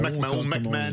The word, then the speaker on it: McMahon: McMahon avec la prononciation américaine.